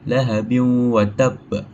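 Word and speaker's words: لهب وتب: So hukum membacanya adalah dengung dan dimasukkan dalam huruf wau. Maksudnya lahabi ada wau dia kita dimasukkanlah ke dalam huruf wau tu dan ditahan dalam dua harakat. Lahabin watab.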